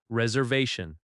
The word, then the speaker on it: reservation: Reservation. Reservation. The stress falls on the third syllable. Reservation. That va sound is strong.